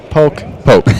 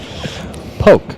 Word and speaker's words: Pooch: We're talking to Justin Finch and Poke. Poke. Yep. Spelled Pooch. Pronounced Poke.